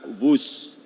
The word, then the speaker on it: Whoosh: Dan kereta cepat ini kita namakan WUS. W-H-O-O-S-H. Dibaca WUS. Ini diinspirasi dari suara yang melesat dari kereta berkecepatan tinggi ini. Dan singkatan dari waktu hemat, operasi optimal, sistem hebat. Sekali lagi, W-H-O-O-S-H, tapi bacanya WUS.